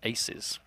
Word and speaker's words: 2z: indeed now we've been told that two is pronounced Aces oh is it so apparently it's Aces versus Rush B but like you said right